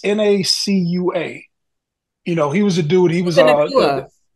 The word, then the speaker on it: Nacua: No, his name is it's Nacua.